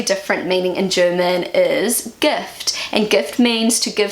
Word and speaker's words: Gift: The German pronunciation is Gift. gift, and it's pronounced pretty similar to the English version, except it means the complete opposite, which is poison.